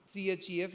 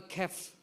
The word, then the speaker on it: chef: Some of the things are not pronounced. So you write CHEF, you say chef. But the people will say chef or kef because they have also written character, or they have learned something like chair.